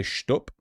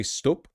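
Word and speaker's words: stoep: They say shtup. Is that how you'd pronounce it? S-T-O-E-P? Stroopwafel? No, that's stroopwafel, I believe. They would just say stup. No, no st. That's not, they don't do the German thing. Stup. They do stup.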